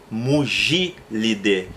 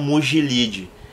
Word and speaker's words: Mugilidae: Tem o gênero Mugil, a família é Mugilidae e não Mugilide.